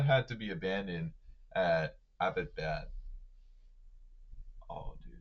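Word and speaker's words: Abbottabad: which had had to be abandoned at Avidbad. Oh, dude. How do I pronounce that? I heard of this before. Abadabad. Abadabad. Okay. Abandoned Abadabad during the bin Laden strike.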